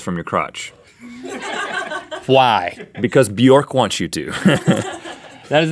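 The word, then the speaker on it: Björk: issue with your pronunciation of Bjork. Oh, Bjork.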